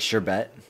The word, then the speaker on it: sherbet: r right it's like sherbet sherbet sherbert is totally pronounced like with a second r though i've i've only